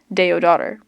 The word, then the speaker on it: Teodora: me in the pantry she pronounced teodora teodora's name in the way teodora said it Deo daughter Tony's voice was equally